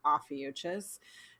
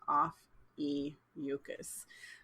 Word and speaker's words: Ophiuchus: sharon talked about uh offices and or no office sorry i keep saying it wrong off e mucus and so this one